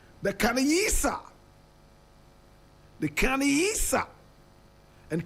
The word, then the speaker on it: Khanyisa: The Khanyisa. And Khanyisa is spelled k h a n y i s a.